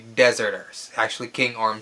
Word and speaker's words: Deserters: the kingdom of the dezerter's it is not pronounced deserters if you listen carefully to the movie they do say dezerter's actually King arm says it when he was